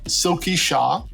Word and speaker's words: Silky Shah: anyways let's get started so today we have silky shaw with us am i saying it right yes